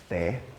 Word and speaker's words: 茶: Yeah, and the big cities, Xiamen, Quanzhou, Zhangzhou, those areas, they pronounce this word as te, or te, very similar to what you have.